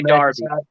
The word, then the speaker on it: Derby: Even though it's spelled Derby, but they say Derby.